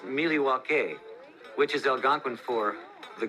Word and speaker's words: Milwaukee: Come to Milwaukee often? Actually, it's pronounced Milwaukee, which is Algonquin for the good land.